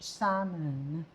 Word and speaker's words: salmon: Silent L dapat poach salmon.